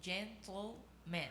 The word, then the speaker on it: gentleman: O som do TLE tem que ser um som bem junto. Gentleman. Eu não consigo. Repete de novo, é bonito. Pensa no TLE como se fosse junto, né? Uma sílaba só.